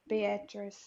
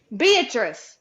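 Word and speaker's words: Beatrice: say it B uh how do you say that beatress beatress I don't even know Bak beatric that's how you say that name beatric beatric beatric wait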